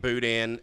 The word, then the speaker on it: boudin: It's not Dan at the end. It's Boudin. Boudin.